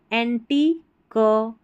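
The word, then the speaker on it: antique: ये जो है ना क्यू यू ई स्पेलिंग के आखिर में आएगा। इसको क कर करके पढ़ना है। जैसे यूनिक क्यू यू ई है ना टेक्ननी क एंटी क बटी क ऐसे क्यू यू ई आखिर में आ जाएगा किसी भी स्पेलिंग में। इसको आप क पढ़ देना है।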